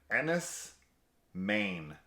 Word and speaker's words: Enys Men: looked it up on Google and it said Ennis Maine okay is how you pronounce it so there you go all right